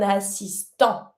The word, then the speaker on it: assistant: An assistant, un assistant. Don't pronounce the T, you stop at the an sound.